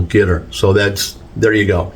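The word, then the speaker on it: Qatar: it he says well you pronounce it like guitar like the instrument a guitar uh with the accent on the first syllable gter so that's there you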